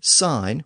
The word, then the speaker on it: sign: spelled s i NES so that suggests that the G sound was already being dropped from the word by the time it entered English but that g has been retained in modern spelling to indicate the ultimate